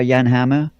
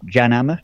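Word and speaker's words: Jan Hammer: I was inspired by Yan hammer or janama some you know people pronounce his name differently how falter and vanelis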